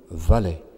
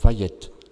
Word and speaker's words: Vallet: François de Paul Vallet. Il paraît qu'en Espagne on prononce Vallette, mais ce nom de Vallet est bien français.